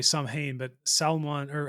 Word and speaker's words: Samhain: of more Celtic and Gaelic holidays known as Samhain, or most people just pronounce it here because they don't know, Samhain.